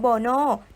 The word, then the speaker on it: BoNoh: ชื่อ ด้อม แล้ว ใช้ ชื่อ ว่า Mono อ่าน ออก เสียง ว่า brono ด้อม อย่าง เป็น ทาง